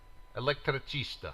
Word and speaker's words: elettricista: Elettricista, thank you.